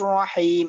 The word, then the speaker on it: الرحيم: আচ্ছা, এরপরে এখানে মধ্যে আর রহমানির রহিম, এখানে মধ্যে হার উচ্চারণটা একটু চাপ দিয়ে পড়তে হবে আর রকে মোটা করতে হবে।